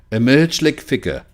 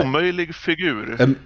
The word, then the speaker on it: omöjlig figur: Emergelig figure. How do you say? Omöjlig figur. Emergelig figure. I can't roll my R's.